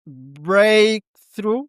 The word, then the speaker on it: breakthrough: Stress on the first syllable. Breakthrough.